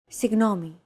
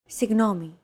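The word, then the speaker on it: συγγνώμη: perfect your greek pronunciation one of these sounds can be heard in the following word signome this word is often romanized like this signomi this character isn't pronounced using an english g sound at all it's like a very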